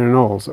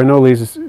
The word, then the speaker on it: anole: But I think they're going to be a great one for your anoles, honestly, because, or anoles, depending on how you want to pronounce it.